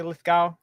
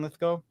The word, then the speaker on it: Lithgow: they say John lith how do you say Lithgow John litho John Lithgow yeah is in he's in final talks to